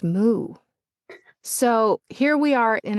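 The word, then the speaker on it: moue: So I had author who loved using the French expression for pout, which is m o u e, but it's pronounced moo.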